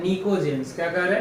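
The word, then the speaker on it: pnictogens: अब बचा एक हमारे पास और element of group 15 are called निकोजेंस। इसमें पी साइलेंट है, इसको क्या पढ़ेंगे? निकोजेंस।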